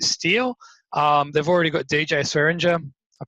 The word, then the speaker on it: Swearinger: They've already got DJ Swearinger. I pronounced that right?